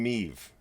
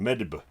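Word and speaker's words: Medb: queen meeve right so i found out her pronunciation is me but this is about after a month of running a game with her in the manuscript of what i was testing and the way her name is spelt is m-e-d-b so i was pronouncing this as queen mediba and i don't know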